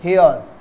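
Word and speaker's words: here's: अब यहाँ के इसका उच्चारण कैसे करते हैं, तो हेयर इज का उच्चारण करेंगे हेयर्स, हेयर नहीं बोलेंगे हेयर्स बोलेंगे, हेयर्स।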